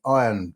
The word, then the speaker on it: Iyan: The results from camp load, the results from Beehive, and then latterly the results from the Iron, that's spelled IYAN, also showed consistent results too.